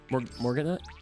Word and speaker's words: Morganite: Master Duel, but I'm going to butcher their pronunciation, Morganites? Morganite?